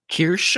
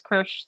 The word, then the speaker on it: Kiersch: Kiersch, I believe.